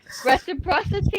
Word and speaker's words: reciprocity: I think reciprocity, is that how you say it?